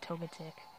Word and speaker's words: Togetic: Double-edged Togetic. Or Togetic. I pronounce it Togetic.